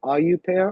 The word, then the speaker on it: au pair: like being a a it's called like a AU pair or but it's spelled a au and it's p a i r.